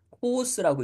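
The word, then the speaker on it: χοῦς: 이름은 522번 단어의 예 단어를 읽을 때는 코스라고 읽습니다 코스 근데 코스는 무슨 뜻을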